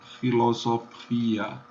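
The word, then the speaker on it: philosophia: A gente vai ter que pronunciar o P e o H como única possibilidade. Filosofia.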